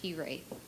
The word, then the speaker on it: hiraeth: It's a Welsh word pronounced hiraeth.